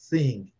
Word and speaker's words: thing: Esse G, ele é quase impronunciável. Thing.